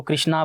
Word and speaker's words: कृष्ण: रहे हैं आजकल तो ऐसे जैसे भगवान कृष्ण जी है वो उनको कृष्णा बोलते हैं बल्कि कृष्ण है राम को रामा बोलते हैं तो ऐसे ही इन्होंने